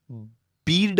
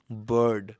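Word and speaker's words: bird: जस्तो बीआईआरडी बीड होइन, अब बाइड होइन, बीआईआरडी बर्ड, एसएचआईआरटी शर्ट, डिआईआरटी डर्टी, एफआईआरएम फर्म।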